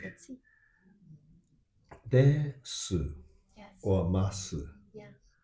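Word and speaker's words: です: Even though they are written this way, Uh-huh. this su is su, So, yeah. but actually this u is unpronounced Oh, that's why, yeah. because this is after an unvoiced consonant which is s, Mm. and it's followed by nothing.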